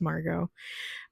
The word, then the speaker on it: Margot: I don't know why I always want to pronounce the T in her name, but it's Margot.